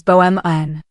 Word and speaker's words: Beaumont: "You said Beaumont," the woman replied, nodding toward the auction catalog where the Beaumont Foundation was printed in bold letters. "The French pronunciation is Beaumont. The T is silent."